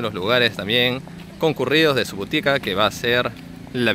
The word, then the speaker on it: Subotica: Ahí la encargada de la biblioteca pública nos explicaba un poquito sobre este lugar, sobre Subotica, que se pronuncia Subotica, y nos decía, bueno, que poco a poco